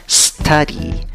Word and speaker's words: study: Y en la segunda sílaba, ¿cómo pronuncias la Y? La pronuncias como una I larga, representada por esa E con su sombrerito arriba. ¿Cuál es la sílaba que lleva la fuerza de voz? La primera sílaba, contando de izquierda a derecha. ¿Cómo pronuncias la palabra study? Study, study. Por favor, no le agregues una E antes de la S.